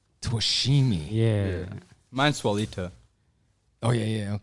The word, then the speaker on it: Twishime: it's a hard one man try it it's twishimi toshimi yeah yeah mineswalito oh yeah yeah okay yeah